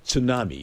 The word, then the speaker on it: tsunami: You know, there's a T in front of that word. It's pronounced tsunami.